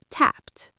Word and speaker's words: tapped: And tapped. Tapped. T ending.